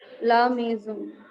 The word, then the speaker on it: la maison: La maison. Yes, la maison. Most of you were pronouncing it as la maison. N is not to be pronounced and O nasal sound.